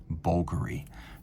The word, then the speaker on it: Bvlgari: And please, I cannot overemphasize for those of you who are still wondering, it's pronounced Bvlgari.